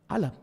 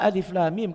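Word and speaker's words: الم: Sekiranya kita melihat tulisan alif lam mim ini sebelum kita mendengar bagaimana alif lam mim ini dibaca, maka kebanyakan orang akan membacanya alam. Tahunya seseorang dibaca alif lam mim karena ada contoh Nabi sallallahu alaihi wasallam membacakan seperti itu.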